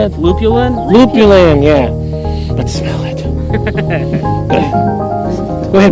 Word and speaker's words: lupulin: Lupulin, yeah.